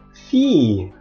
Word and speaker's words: fille: Fille, anak perempuan. Jadi yang perlu diperhatikan juga di sini bukan fille tapi fille. Agak dipanjangin pengucapan y-nya.